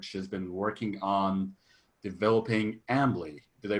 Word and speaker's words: Ambly: of that effort, she's been working on developing Ambly. Did I pronounce it right, Cy?